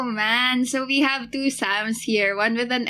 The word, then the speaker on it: Xam: is but you guys can call me sam and it's spelled with an x so it goes x am i'm currently id 120